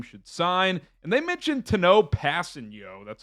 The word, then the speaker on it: Tanoh Kpassagnon: And they mentioned Tanoh Kpassagnon. That's how you pronounce his name.